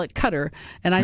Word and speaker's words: Qatar: Cutter, gutter, and Qatar, of course. But Q A T A R to me is pronounced cutter. Gutter may be the appropriate pronunciation in Arabic, but I certainly in